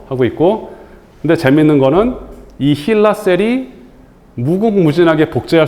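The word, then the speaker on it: HeLa: 그 이게 이게 잘함으로 해서 이거를 힐라셀 이렇게 이름을 붙였어요. 헬라. 고 힐라라고 이제 발음하는데 이게 헨리에타 렉스를 따서 이제 붙인 말인데 이거는 의생명 과학에서 가장 많이 쓰이는 실험용 세포주예요.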